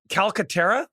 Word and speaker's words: Calcaterra: I want to add in Grant Calcaterra. Is that how you pronounce his last name? Yep.